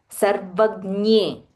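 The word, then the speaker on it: सर्वज्ञे: So when you pronounce, just be mindful. Sarvagnye, sarvagnye, yogagnye, yogagnye. So it is not near, it is not the Tamil near. It is yogagnye.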